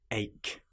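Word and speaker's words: ache: For example, the word ach has a ch in it, but it is pronounced like a c.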